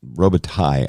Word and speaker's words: Robitaille: a guy named James Robitelli, he seems to go by. It's a French name, and Robitaille, I think, is the correct pronunciation.